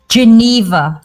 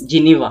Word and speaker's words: Geneva: Just Geneva. Okay. Okay, it's a country name, right? Yes, Geneva, it is.